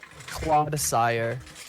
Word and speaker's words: Clodsire: Clodsire. How do you spell that? You're a Clod, sire.